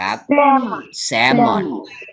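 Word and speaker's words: salmon: ว่า ป่า แซลมอน ภาษา อังกฤษ อ่าน ว่า แซมอน แซมอน แซมอน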